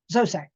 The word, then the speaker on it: Zoisite: So I say it really fast when I say it right. Zoisite.